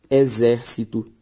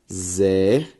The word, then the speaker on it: exército: Exército. Como, por exemplo, tônica. São palavras que, se você acompanhar comigo, veja só. Ao separar exército, exército. A sílaba tônica, zer, ou seja, antepenúltima sílaba tônica, portanto, proparoxítona, e eu te falei que toda proparoxítona é acentuada.